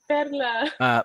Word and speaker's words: Perla: But anyway, yesterday I would said, Kevin, I'm trying to get everyone to pronounce my name Pedla.